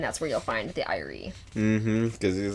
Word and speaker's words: Ire: Yep, the Irie, which is just spelled like ire. Yep, I-R-E. And I'm just like, that's just an existing word, ire.